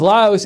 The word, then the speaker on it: Lao: Laos, Macintosh Geek says Laos is pronounced Laos with an S. Lao is pronounced Lao. The Lao people live in Laos. 2 different words with different meanings.